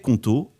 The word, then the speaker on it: Qonto: C'est une entreprise sur 5 en France qui se crée aujourd'hui avec Conto et c'est pas un hasard.